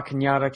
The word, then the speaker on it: Cañada: And yeah, that's the town that's spelled La Canada. Right, But it's got a little like Mexican hat on there, which makes it Yes. Cañada. Cañada, yeah.